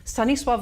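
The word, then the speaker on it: Stanisław: on the cover um it should be sunny with the l bard has a little thing through it um to make it sound like a w and mostly it's not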